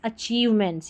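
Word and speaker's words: achievements: और ये chew, CHIEVE, अचीव, ठीक है, अचीव की स्पेलिंग हमने पहले भी पढ़ी थी, अचीव, और मेंट्स है MENTS, मेंट्स, अचीवमेंट्स, याद कर लें, अचीवमेंट्स यानी जो उपलब्धियां होती है, अचीवमेंट्स।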